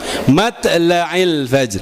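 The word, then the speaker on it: مطلع الفجر: Lail fajr huruf th dia akan mangap dulu mat lail fajr huruf ta dia enggak akan mangap matlail fajr mat lail fajr ya mat lail fajr walaupun itu qalqalahnya kecil tetapi huruf th-nya harus diucapkan aslinya mat lail fajr ya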